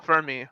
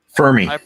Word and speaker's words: Fermi: you guys say it fermi i just pronounce it femi because other people have told me no it's not for me it's femi yeah it's because the r is silent i i object to